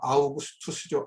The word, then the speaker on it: 아우구스투스: 좀 오리지널 발음을 하면 아우구스투스죠. 아우구스투스.